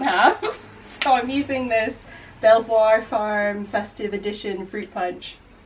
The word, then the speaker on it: Belvoir: bested I think that Amanda told me that the um pronunciation of that brand is actually beaver beaver really yeah or something is that an r no that's definitely an L I know but I